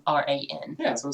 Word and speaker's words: Quran: Yeah, no, I was thinking there was no A, so it would be like Quran. Maybe I'm wrong. I think they spelled. Oh man, never asked me to play Steve Vai. I am not. It is spelled without the first A. So it's Quran.